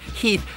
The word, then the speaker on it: Heth: So we would know it was pronounced Heath and not Heth.